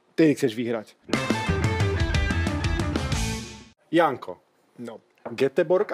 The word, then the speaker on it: Göteborg: Göteborg alebo Göteborg, alebo ako sa to vo Švédsku vyslovuje? Povedem, po našom, však sme Slováci. Göteborgu.